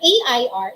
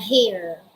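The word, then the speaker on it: heir: Sabi ni Yan Urel Badagwas, the first one, air, A-I-R, is hangin. And the second one, air, it is silent H. Hindi po binabasa yan na hair. Ang basa dyan ay air, silent H.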